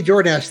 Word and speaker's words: Jordash: Yeah, you can just say Jordash, the 7K is silent.